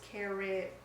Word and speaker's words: Caribbean: you a different question I'm going to go with Caribbean unless I'm talking about the movie no no it's cariban a Pirates of the